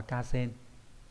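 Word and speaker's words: 河川: Còn sông ngòi nói chung thì sẽ là từ Hà và chữ xuyên ghép lại đọc là Ca Sen.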